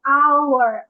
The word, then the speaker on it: hour: আওয়ার, আওয়ার, আওয়ার।